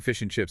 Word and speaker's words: fish and chips: Try saying fish and chips at full conversational speed. Fish and chips. Yeah, the D is just completely gone.